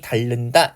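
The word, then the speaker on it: 닳는다: 첨가의 조건과는 관련이 없죠 그러면 먼저 달 같은 경우에 겹받침 히이 동시에 발음될 수는 없으니까 하나 탈락해서 이렇게 발음 되고요 그다음에 리을 뒤에 유 리을 뒤에 유 아닌 니은이 왔기 때문에 유음화 일어나서 최종 발음이 다른다 이렇게 되겠죠 그래서 자음군 단순화 역시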